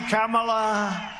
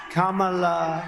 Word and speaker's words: Kamala: crazy kamla and then mispronounces her name on purpose let's play that clip and we're going to defeat crazy camela Kamala you know there's about 19 different ways of saying it she only likes